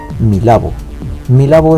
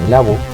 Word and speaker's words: Milabo: Milabo is the Japanese pronunciation of Mirror Ball, which means: "Disco ball".